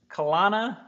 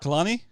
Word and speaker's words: Kalani: welcome to spotty bowl kalana kalana kalani kalani that's it yeah that's what i'm looking for kalani congratulations now that i